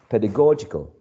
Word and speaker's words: pedagogical: do with pedagogy is pedagogical pedagogical okay pedagogical so pedagogical is stressed right on the third syllable so uh the first